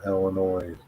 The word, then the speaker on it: Illinois: Don't pronounce the S in Illinois.